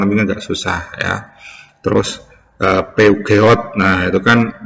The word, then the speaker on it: Peugeot: Terus Peugeot, nah itu kan bacanya susah, tapi itu kalau untuk orang karena itu merek dari Prancis, itu kalau orang Prancis sebutnya Peugeot ya.